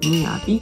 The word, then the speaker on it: 38灯: で、38 でミヤと読むのでミヤビと読みます。